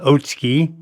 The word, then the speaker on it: Otsuki: family's house there was Mr otsuki or pronounced otsky and he developed a